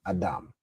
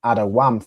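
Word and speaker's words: אדום: But really the root here, the way you'd originally pronounce it is Adam. Okay, I believe previously I had it as awam for red, but I had to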